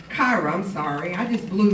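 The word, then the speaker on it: כרע: The group got its name from the Hebrew word cara, which is pronounced as kara.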